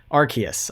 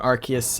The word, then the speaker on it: Arceus: Arceus, I think is how it's actually pronounced.